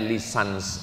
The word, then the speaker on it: licence: B bahasa Inggris cara membacanya lisans artinya ijazah.